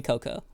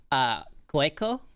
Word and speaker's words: Koeko: You know what I've heard a lot of people pronounce my name as, even though it's supposed to be pronounced Coco? Koeko is what I've heard people call my name, and I'm just like, you know, I don't even mind it too much. Even though it's technically Coco, it's just like, I